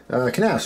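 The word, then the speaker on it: Knafs: Knaf's rhymes with graphs and laughs.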